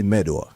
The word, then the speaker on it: Medor: And for me, Medor. Medor. Make sure you get the R up in there. Medor.